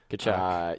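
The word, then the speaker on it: Tkachuk: Hey, the Coyotes had Keith I can never pronounce his name. Keith Kachuk. Kachuk.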